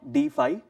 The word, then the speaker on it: DeFi: Technologically blockchain की दुनिया में एक पर्टिकुलर टर्मिनोलॉजी है जो यूज में आता है, जिसका नाम है डीफाई, या कुछ लोग उसे डेफी भी कहते हैं। स्पेलिंग है DEFI, डिसेंट्रलाइज्ड फाइनेंस, ये उसका फुल फॉर्म बन जाता है।